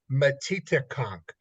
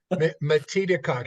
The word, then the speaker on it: Metedeconk: The name is Metedeconk. Think of it like Native American. Metedeconk. Here's how it's spelled: METEDECONK. Metedeconk.